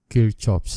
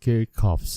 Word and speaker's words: Kirchhoff: understanding the man about kirchoff's law or kirchoff's laws and that is a german pronunciation kirchoff if you want to pronounce in english this is kirkoff's laws so kirchhoff that is